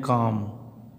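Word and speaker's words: calm: तथा डी से पूर्व, यानी यहाँ देखिए यम दिया है, यम से पहले यल आ गया तो इस यल का उच्चारण क्या हो गया, साइलेंट हो गया।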